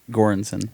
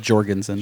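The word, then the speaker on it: Göransson: by ludwig there you go lugwig what ludwig gorenson great i said jorgensen shout out to him that connect pronunciation but he did um he did black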